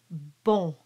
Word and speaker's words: bon: So normally the word bon is pronounced as a nasal, very closed O.